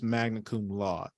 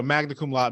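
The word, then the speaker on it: magna cum laude: I think the brunette the correct pronunciation this magna law oh okay but I think people say you know magna laude magna laude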